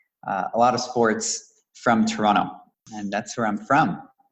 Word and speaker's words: Toronto: You can actually notice that I'm from Toronto because I don't pronounce the second T, so it's Toronto. Those that are from Toronto say Toronto.